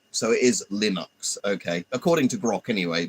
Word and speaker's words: Linux: I'm going to ask Grock, how is Linux pronounced? Break down lie like the word lin or linen nux ducks. Oh, so it is linux according to that. It's not linux as in you're saying lin or lenux.